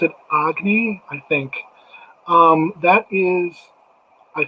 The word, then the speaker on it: Agni: It looks like it's pronounced Agni. I think Agni is what it looks like.